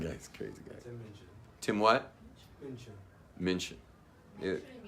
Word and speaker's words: Minchin: I think his name's Minchin.